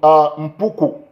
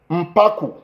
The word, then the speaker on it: Mpaku: Of course, you know, we have Kang Johnny Mbwange from Mpuku. No, that's Mpaku, not Mpuku, Mpaku.